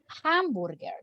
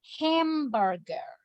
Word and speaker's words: hamburger: The correct pronunciation is hamburger. Hamburger. Hamburger. Yes, but if you say ham, no, porque está pronunciando esa vocal español. En inglés, esa vocal en esa palabra se pronuncia ham, hamburger.